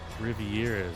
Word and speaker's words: Riviera: Riviera, that's how you say it.